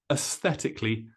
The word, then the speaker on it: aesthetically: is a aesthetically pleasing this AE is quite unusual in English but it's pronounced us aesthetically pleasing now let's talk